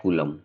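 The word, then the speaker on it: coulomb: जो SI unit होती है वो होती है कूलम ठीक है स्पेलिंग इसकी है सीओ य एल ओ एम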